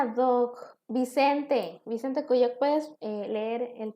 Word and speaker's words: ad hoc: El siguiente se pronuncia ad hoc.